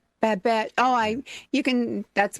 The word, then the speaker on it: Babette: Babette. Babette.